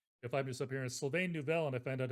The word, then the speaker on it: Neuvel: So my name is sort of supposed to be pronounced Sylvain Neuvel, but no one does that. And when they try, it's usually worse. So That's I've why I gotten didn't used try. to Sylvain Neuvel.